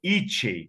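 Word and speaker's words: Icsey: Rudolf Itchey, ou Rudolf Ixey, como era chamado, eu aprendi a pronúncia correta com uma amiga pesquisadora húngara, né? Porque o Rudolf Itchey era húngaro, então ela dizia Rudolf Itchey, né?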